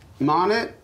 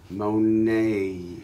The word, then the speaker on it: Monét: Monet? No. There's an accent on the E. Monet.